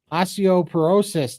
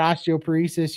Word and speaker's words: osteoporosis: those last ones here osteoporosis Todd not osteop paresis you pronounced it correctly thank you so much